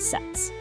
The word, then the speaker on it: SETS: And yeah, you pronounce that SETS.